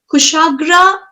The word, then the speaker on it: Kushagra: So I have to ensure that Kushagra, I hope I'm pronouncing your name correctly.